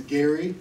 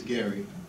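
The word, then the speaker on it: Gerry: please my name is Gary and it's spelled a little differently it is g-e-r-r-y but it is Gary go figure that one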